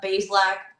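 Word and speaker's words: Bazelak: Now, they have a third string quarterback that they're putting on the practice squad and Connor Bal Ballac, I can never like pronounce his name correctly. It's uh Baslac.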